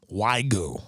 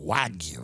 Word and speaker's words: wagyu: best cuts of american beef wagyu and lamb waigu wagyu wagyu wagyu that's how you say it i know exactly